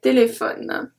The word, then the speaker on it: téléphones: Un téléphone, des téléphones. Un téléphone, des téléphones. So here we don't pronounce the E, and here we don't pronounce the ES.